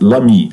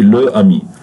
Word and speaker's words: l'ami: We pronounce it as one word, l'ami, l'ami, l'ami, like that. We don't say le ami.